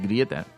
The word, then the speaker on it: Greta: Pudiéndole llamar Greta, que en realidad también está mal dicho, porque tampoco es Greta. No, es Grieta. Grieta.